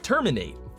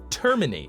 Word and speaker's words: terminate: a human being, like terminate, terminate, infiltrate. But in every single one of these, he puts it at the end.